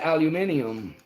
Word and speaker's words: aluminium: hilarious when some limey fellow like yourself says aluminium on the uh instructional video.